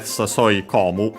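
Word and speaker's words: 誘い込む: But yeah, in this case, by combining these two verbs, we get sasoi komu. Luckily, still accented like komu on its own.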